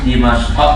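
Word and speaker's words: دمشق: Dimashq ya bacanya.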